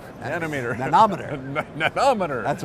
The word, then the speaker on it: nanometer: That's right, that's nanometer. Nanometer. Nanometer. Nanometer. That's right. I want to get a nanometer. I just had my syllable on the wrong syllable.